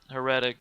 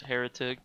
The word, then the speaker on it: Heretic: My mother always called it Heretic, but it's pronounced Heretic because it's an old word.